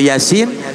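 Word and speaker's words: يس: Toha cuma dua harokat kalau Yasin Ia hanya dua sim-nya 6 ini mudah-mudahan kalau berlanjut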